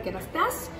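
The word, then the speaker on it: Kérastase: Oh, y pregunta, ¿Kerastas o Kerastase? ¿Cómo se pronuncia? Kerastas. Kerastas, hasta las.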